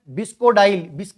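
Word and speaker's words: bisacodyl: तीसरा क्वेश्चन है वही बात, एक ड्रग का नाम आपके सामने है और वो ड्रग का नाम है बिस्कोडाइल। बिसाकोडाइल भी बोलते हैं आप लोग बेटा, प्रोनाउंसिएशन इंग्लिश का।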